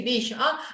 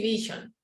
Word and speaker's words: vision: I work for quality vision. No. For quality vision. You can say quality or quality. It's okay. But vision, it's vision, no vision. Vision. Right? That's pronunciation. It's a V with your teeth.